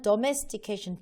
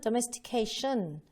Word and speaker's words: domestication: 제가 이제 바꿔드리고 싶은 건 뭐냐면 domestication 해가지고 도가 아니고요. 사실 이거는 domestication, 더가 더 맞거든요. 자, 두 번째, 션이 아니고요. 이거는 domestication, 좀 얇게 들어가죠.